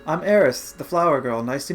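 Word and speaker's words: Aerith: controversy with her name supposedly the intended spelling is i-th but it's pronounced the same way in Japanese and also I guess in English you're supposed to say Eris so seeing as this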